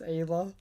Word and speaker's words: Ayla: and the worst part supposed to be pronounced ayla i'm still gonna pronounce her isla it's like no doubt